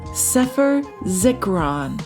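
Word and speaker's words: ספר זכרון: And in Hebrew, it's pronounced sephur zikuron.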